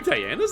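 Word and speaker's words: Daena: are there two dianas in this but Irwin is someone with demon blood Dana that's it Dana but pronounced as Diana but yeah all of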